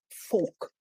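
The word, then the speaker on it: Volk: of what herder called folk now you know this is the german pronunciation but it would be written as v o l k so when we are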